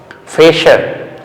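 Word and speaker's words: Fächer: So here also Bräuche, okay, sh, that means if CH is written after U umlaut, A umlaut or S, the sound is sh. Once again I repeat, Fresher, Mädchen, Bräuche.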